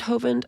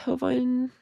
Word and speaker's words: Hovind: But yes, you're pronouncing his last name correctly. Oh, is it is it Hovind? Oh, good. I hope so. Hind. Hovind.